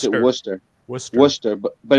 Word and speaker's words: Worcester: We pronounce it Worcester.